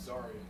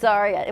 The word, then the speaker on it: Zaria: Zaraya, but Zaria. It's Zaria. What happens is one person says it wrong and then it kind of sticks.